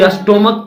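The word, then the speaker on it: stomach: यहाँ ये अस्टोमक नहीं पढ़ेंगे, इसको क्या पढ़ेंगे, अस्टोमक। अस्टोमक का जब S है, CH है, लेकिन यहाँ अस्टोमक हो रहा है, CH का उच्चारण क्या हो रहा है, को हो रहा है, अस्टोमक।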